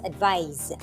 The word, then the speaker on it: advise: This is pronounced as advise with a Z sound.